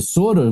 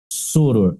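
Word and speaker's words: sóror: E soror, você só trocou a vogal aberta para a vogal fechada. Continuaria sendo igual essa outra aqui, ó. Mas não existe essa pronúncia soror. É soror. Acento agudo.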